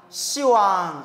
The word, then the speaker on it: 시왕: 하면 어 이거 씨 듣는데이 그래서 이제 십자가는 발음을 어떻게 바꾼 거예요 시방 시왕 이렇게 바꾼 거 이제 알겠죠 십자에 그래서 시왕